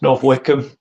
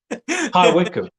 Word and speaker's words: High Wycombe: Can you pronounce it? Yeah. It's North Wickham. It's in England. Yeah. High Wycombe.